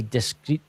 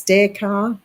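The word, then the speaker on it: Descartes: Oh, I can pronounce it. It's Renie discrete. Is it It was a French philosopher. It's Decar.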